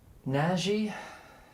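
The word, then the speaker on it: Nagy: We got um Breeze and Naji. Did you have it pronounced? Naji. Naj. Yeah. Naj. That's a Hungarian. The Hungarian way to say naggy.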